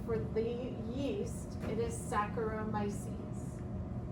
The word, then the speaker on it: Saccharomyces: So for the genus name, for the yeast, it is Saccharomyces. Think of like saccharides.